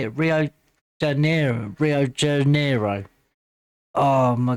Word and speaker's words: Rio de Janeiro: Rio de Janeiro Rio de Janeiro.